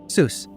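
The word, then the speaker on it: Suess: E and U flipped both though were pronounced the same way Zeus and it seems that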